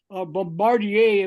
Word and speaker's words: Bombardier: you know uh we had Scadoo got involved Bombardier if you want to pronounce it properly uh they got involved and